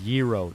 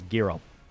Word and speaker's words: gyro: It's pronounced gyro. No, it's gyro. I'm American. I say it the American way.